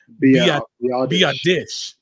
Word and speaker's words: Biadasz: And thanks to everybody who jumped in and gave us the proper pronunciations. I think it's Biadasz.